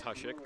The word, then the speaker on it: Hosek: It's Hushik, but I mean, if you read it and you didn't know, kind of like Kuchera, you wouldn't know how to say it.